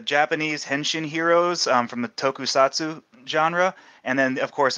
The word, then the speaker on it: tokusatsu: Tokusatsu. How do you say that? Tokusatsu. You got it right.